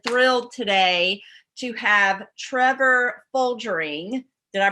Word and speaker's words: Folgering: Biohacker mom, and I'm so happy and thrilled today to have Trevor Folgering. Did I pronounce that correctly?